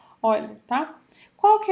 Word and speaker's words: Euler: Teorema de Euler, que na verdade a gente fala de Euler, tá? Teorema de Euler. É um nome é nome próprio, né? Se pronuncia Euler, tá?